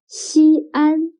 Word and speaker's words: Xi'an: the terracotta warriors excellent xi'an can you write down the opinion of xi'an if we write xin and an together it'll become one syllable means first but xi and are two syllables so when the syllable